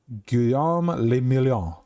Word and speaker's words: Guillaume le Million: Guillaume le Million. Drama, medium success. If it doesn't rhyme, you're not pronouncing it right.